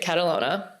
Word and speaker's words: Catalogna: Um, it's period Catalona and my name is K A T I no E. And there's also a silent G in my last name, so you'll have to figure out everyone.